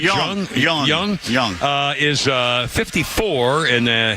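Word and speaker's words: Jeong: Ken Young or Jung. You pronounce it Young.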